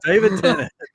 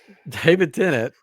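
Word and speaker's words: David Tennant: shamed I feel shamed I don't know why I said that it's how you pronounce it in France I gu is yes I would just came from Paris um David tennet he voiced it in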